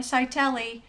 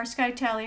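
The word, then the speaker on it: scytale: The Egyptians used the hieroglyphics, the Caesar used substitution ciphers, Spartans even used a skytele, or skytele, however you want to pronounce it, that was actually a thin sheet wrapped around a stick, effectively.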